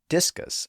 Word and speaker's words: discus: end and that's because discus puts the stress on the first syllable so a single s is